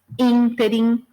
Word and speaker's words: ínterim: E aí a gente tem alguns casos, só para ficar claro onde é a sílaba tônica. Então, filantropo, ibero, ínterim, libido, Lúcifer, misantropo, ômega, pudico, rubrica e ruim, né?